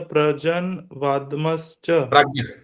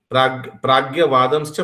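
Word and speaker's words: prajñā-vādāṁś ca: No Prabhu, how you pronounce the prajan vadmascha? Pragya vadamscha bhasase.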